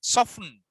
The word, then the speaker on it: soften: Soften. T is silent.